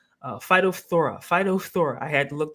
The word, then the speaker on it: phytophthora: Something called phytophthora. Phytophthora. I had to look that up how to pronounce that the right way.